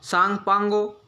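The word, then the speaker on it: Tsangpo: ठीक है, जिसको सांगपांगो तिब्बत में जाना जाता है। मैं स्पेलिंग लिख देता हूँ क्योंकि सांगपो टी साइलेंट होता है, सबको पता होगा।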